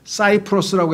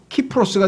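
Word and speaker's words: Cyprus: 그래서 C저라고 발음을 하고 그다음에 지중해에 있는 섬도 사이프러스라고 해서 섬 이름도 사이프러스라고 하고 그런데 문제는 라틴어식으로 발음하면 라틴어 이게 원래 라틴어니까 로마의 언어 라틴어는 C가 K로 발음이 돼요. 그래서 카이사르가 되고 키프로스가 되는 거예요.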